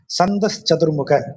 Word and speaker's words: சந்தஸ் சதுர்முக: வேதங்களை படைத்த பிரம்மன் தான் இந்த சந்த சதுர்முகங்கிற வார்த்தையை போடுறார் சந்தஸ் சதுர்முக அப்படின்னு அதை சொல்லணும் அதாவது வேதத்தை உச்சரித்து உருவாக்கிய